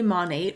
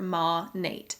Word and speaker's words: Monat: but it's bothering me that they can't say monet right mon8 is short for modern nature okay modern nature ma nate i know a lot of people pronounce this